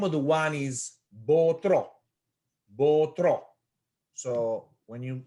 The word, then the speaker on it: Botro: The name of the wine is Botro. Botro. So when you say the name, you just have to have a little bit of accent at the end of the word. Botro.